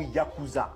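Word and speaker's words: ヤクザ: C'est de là que vient le mot yakuza. Dans un jeu de cartes japonais appelé Oo Shabu, la pire M possible est un 8, un 9 et un 3. Et ce 8 9 3 se prononce Yakuza.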